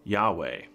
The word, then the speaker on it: Yahweh: name is mark uh in the hebrew it is called it would be pronounced yahweh uh jehovah is a